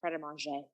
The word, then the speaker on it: Pret A Manger: yeah, but it's pronounced pret a manger.